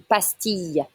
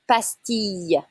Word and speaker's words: pastille: Une pastille. Listen, it's not a L sound, it's a Y sound. Une pastille.